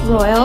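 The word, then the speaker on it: Roihl: Hi everyone, I'm Miss Royal. If you get an email from me, it'll say Royal, just so you know who I am, and that's spelled R-O-I-H-L.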